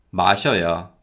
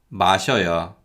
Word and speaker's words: 마셔요: 마셔요, 마셔요. 바지요, 바지요. 신발이요, 신발이요. So as you can hear, yo is pronounced closer to the sound of 여 than actually yo.